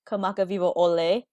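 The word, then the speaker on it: Kamakawiwoʻole: Hawaii's own artist, Israel Kamakawiwo'ole. Good pronunciation.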